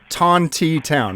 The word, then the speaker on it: Tontitown: I was just wondering how to pronounce the name of your town Tontitown oh sorry tanti town right correct all right great hey